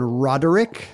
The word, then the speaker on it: Roderick: uh John was at John Roderick three syllables mhm if you type